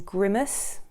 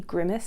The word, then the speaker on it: grimace: he constantly mispronounces and instead of saying grimace which i'm sure is the way to pronounce it you know when you grimace someone grimaces he keeps saying grimace the character grimaced which is kind of